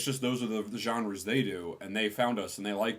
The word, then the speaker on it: genre: genre say Jean. It's pronounced genre.